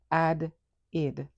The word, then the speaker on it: added: So this is what we have the base verb add. The category it falls under is it. So we have addid. Added this word goes under it.